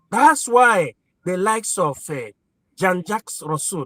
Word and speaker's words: Jean-Jacques Rousseau: That's why the likes of Jean-Jacques Rousseau, that's the way we pronounce it in Europe, maybe you can say James Rousseau.